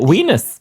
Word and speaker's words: Venus: discovered Wulan W well or weenus that's the pronunciation it was yeah but like we